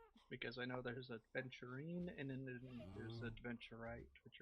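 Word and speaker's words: aventurine: Venturine or No, it's adventurine. Yeah. A V E N T U R I N E.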